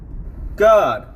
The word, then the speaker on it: Gad: up next to it, G-A-D, God. The same way it's pronounced in Enoch, with that little vowel point above the A.